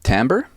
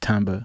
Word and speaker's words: Tamba: Timbre? Yeah, Tamba.